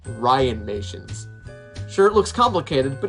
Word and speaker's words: Ryanmations: ryan axtell from what i said before it's pronounced ryan nations sure it looks complicated but it's very simple